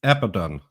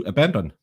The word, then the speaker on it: Abaddon: He used to pronounce it Abaddon, like everyone else names that character Abaddon, and then he changed it to Abandon.